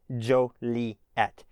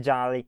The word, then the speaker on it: Joliet: So just remember that it's not Jolly, it's Jolie.